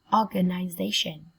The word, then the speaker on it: organization: Organization. Organization. Organization. Organization. Trọng âm dâm tiết thứ 4.